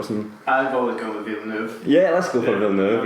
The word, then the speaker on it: Villeneuve: Denis Villeneuve, I don't know how to pronounce his last name, I think it's Villeneuve, maybe, potentially. I'm looking at Chris here for some... I've always gone with Villeneuve.